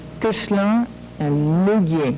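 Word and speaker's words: Koechlin: Although you don't pronounce it right, but you're right. Kuchlan and Mugier.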